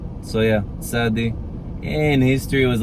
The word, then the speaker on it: tsádi: That one is thaw in Arabic, and also Hebrew was probably similar to that, but otherwise just do TS. That's what modern Israelis do. It's what most people do. So tsádi, kuf, reysh.